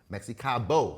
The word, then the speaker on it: Mexicabo: That's just upstairs from Mexicabo. Mexicabo. That's how you say it.